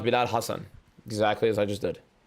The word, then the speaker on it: Hassan: So how do you pronounce Bilal Hassan? Exactly as I just did. And I think he has Hassan as one S, so Hassan.